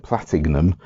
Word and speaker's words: Platignum: uk um platinum was i'm going to carry on pronouncing it with the g in the middle platinum um is a was